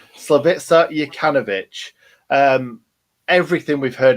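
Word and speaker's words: Slaviša: it's it's really exciting because um yeah obviously slovicia oh god i've been saying it all day and i've i've this is the first time i've said it live and i've said it wrong slovitza yakanovich um everything we've heard about him is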